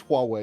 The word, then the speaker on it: Huawei: It is Huawei, isn't it?